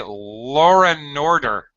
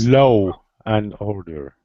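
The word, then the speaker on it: law and order: okay whatever uh Christian don't say Lauren order Lauren order oh la I get it using the saying the first word is l that's low and order thank you yes yes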